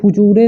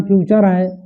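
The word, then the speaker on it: future: इसको फुचूरे नहीं पढ़ना है, फ्यूचर है ना, लिखा है फुचूरेन है वो, भविष्य काल।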